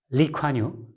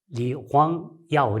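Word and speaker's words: Lee Kuan Yew: 중국 보통화, 중국 표준어로 하게 되면 리황야오 이렇게 발음해야 되겠죠. 근데 아마 리콴유 그런 건 이분이 원래 아마 광동성, 거기가 이제 광동성 분들이 광동어를 싱가포르 예전에 썼으니까요. 광동어식으로 이걸 읽으면 아마 리콴유처럼 읽는 것 같습니다.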